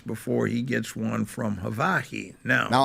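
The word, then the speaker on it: Hawaii: he gets one from havai now now I don't know why he keeps saying hav by the way uh we heard that with the Maui coverage that's how the locals Say Ha Havi no yeah but you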